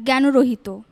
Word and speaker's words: জ্ঞানরহিত: পাঁচ নম্বর পক্ষাঘাত আর জ্ঞানরহিত সমাসবদ্ধ পদ যদি তৎসম শব্দ হয় তাহলে মধ্যটা ওকার অন্তত উচ্চারণকে আমরা শুদ্ধ বলবো সেই সূত্রে এটি জ্ঞানর হবে আবার জ্ঞান রহিত বললেও ভুল হবে না তাই তুমি 10 নম্বরই